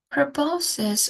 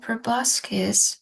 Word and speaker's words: proboscis: Proboscis or proboscis, it has two pronunciations. Either you can say proboscis or proboscis. Both are okay.